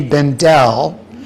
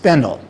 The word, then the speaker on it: Bendel: Many know about the now shuttered store, Henry Bendle, which closed in 2019. Few know much about Henry Bendle, the man. And if you're wondering why I'm not saying Honore Bendelle, turns out that's just one of many myths